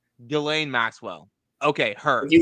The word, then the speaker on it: Ghislaine: Ghislaine?